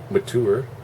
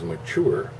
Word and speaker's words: mature: I always knew that word is mature. The adults spoke it to me, mature. In classrooms, in schools, mature. Only later on, all of a sudden, someone hoity-toity says mature. Sounds like manure.